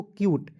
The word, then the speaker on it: cute: ठीक है, तो सी का आधा क लिखेंगे, UTE का उच्चारण यूट के रूप में करेंगे। क्या हो जाएगा दोस्तों, क्यूट।